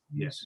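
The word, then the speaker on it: Ys: i think they s it's y s e c yes that's how they say it uh if you haven't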